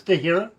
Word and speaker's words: de Herrera: It is de Herrera? It is. Some people pronounce it de Herrera, but it's also pronounced the way you're saying it, so no problem.